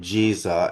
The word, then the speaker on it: Giza: Pronounced Giza plateau for the local Arabs only. The rest of the Arab world pronounces it Jiza as in Jesus, which is the master stone builder.